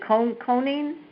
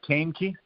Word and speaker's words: Kaneki: Is it Coning? The last name, Todd? How do you say it? Yeah, it's Kaneki. Is this on mute? Kaneki? Okay. Yep, Kaneki.